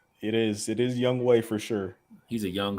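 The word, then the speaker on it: Younghoe: uh super accurate kicker how about we never pronounce his name right it's young right it is it is Young way for sure he's a young hoe I knew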